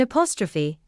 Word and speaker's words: apostrophe: In apostrophe, the stress falls near the beginning of the word.